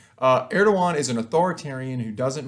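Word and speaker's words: Erdoğan: the impact of president erdogan in turkey now the first big thing is of course know how to pronounce the name right so rasheep tayyip erdogan don't be the team that calls him erdogan but at any rate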